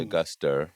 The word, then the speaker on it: Auguster: name augustus was actually a guster like the month of august with an er and uh but you